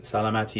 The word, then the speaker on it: salamati: fierce so salamati boys salamati is how you say cheers in Farsi that's why I say